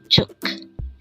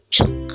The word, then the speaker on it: 죽: one syllable word and it is pronounced as chuk again it's chuk the word chuk is